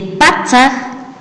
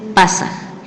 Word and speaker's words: patzaj: Y esto corresponde a la pronunciación de patzaj, que es mi pronunciación, pero las otras pronunciaciones van a ser pasaj. Eso es correcto. Esto depende de cada contextualización o de cada población donde se habla quichua.